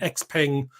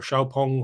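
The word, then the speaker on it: XPeng: them are coming definitely we've got the x-ping or xiaopong whatever way you want to pronounce it we've got the byd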